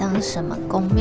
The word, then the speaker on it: Hong Sieng Kong: On le prononce Hong Sieng Kong en thaï.